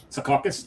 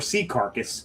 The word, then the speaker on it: Secaucus: And thank you for saying it right. Secaucus, not Secaucus, or Sea Carcass is another way it's pronounced.